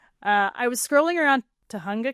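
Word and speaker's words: Tujunga: I was scrolling around Tunga Canyon is how you pronounce it Tunga in Google Maps just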